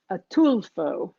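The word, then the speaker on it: Ataulfo: There's another variety which is delicious called and I had to look up how to pronounce this, but it's Atulfo, the Atulfo mango, also known as honey mango, which is really, really good.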